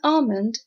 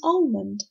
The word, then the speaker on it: almond: series in words like almond some people think it's almond but this is wrong you have to say almond almond the second word is